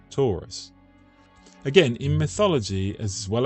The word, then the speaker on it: Taurus: through that local chimney notice that Taurus the constellation is pronounced in English just like the shape Taurus and Taurus is the